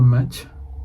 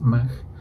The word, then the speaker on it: Mach: Como nota, en castellano solemos pronunciarlo Mach. Decimos Mach 1, Mach 2. En inglés suelen decir Mach, pero hasta donde sé lo más correcto es Mach.